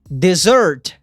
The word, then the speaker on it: dessert: pedir seafood, frutos do mar, pizza, soda and dessert. Pizza, refrigerante e sobremesa. E aqui, ó, tem um detalhe de pronúncia para essa palavra, que é o seguinte. Ela tem 2 S's e a pronúncia é dessert, que é sobremesa.